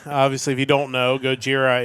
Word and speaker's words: Gojira: Obviously, if you don't know, Gojira is the the Japanese pronunciation for Godzilla.